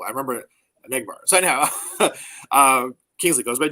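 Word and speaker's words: Enagbare: JJ Enegbara. And McBart with a Enegbara. little at the end. Definitely the accents on the second syllable. I remember Enegbara.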